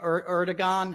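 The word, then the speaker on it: Erdoğan: Erdiggon. I always say his name wrong. It's not a hard G.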